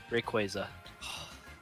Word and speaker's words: Rayquaza: Now, Rip Bonk, I ask you, how do you pronounce the Pokemon on your coin? Rayquaza.